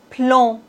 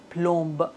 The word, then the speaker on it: plomb: B comme plomb. On ne doit pas dire plombe, non. Plomb.